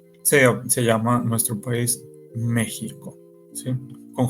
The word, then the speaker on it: México: por eso es que México se sigue escribiendo con x pero se pronuncia con j Sí para que me